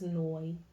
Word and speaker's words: Noy: Now I know how to say her name. It is Noy.